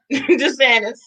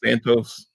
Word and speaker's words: DeSantis: Is DeSantis that how you say his name? did not. Okay, so we're in I thought it Florida. was DeSantos.